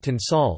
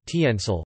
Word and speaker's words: tensile: Indian English, like most other Commonwealth dialects, will invariably use the British pronunciation. Thus, would be pronounced as tinsal like the British, rather than tiensal like the American.